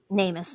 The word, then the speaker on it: NamUs: That's how you pronounce it, right? Nameless. NamUs, thank you.